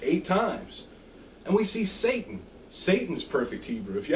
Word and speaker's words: Satan: Testament and then and if you look at the pronunciation guide in the strongest concordance is pron ounc Satan now most a lot of Hebrew people also say shatan but in the strongest concordance it literally says Satan okay and we say